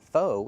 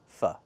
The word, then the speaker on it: pho: We use the short "uh" sound like cup and up, not the long "o" like no and go. It's not pho, it's "fuh". It looks like pho, but it's not. It's pronounced "fuh".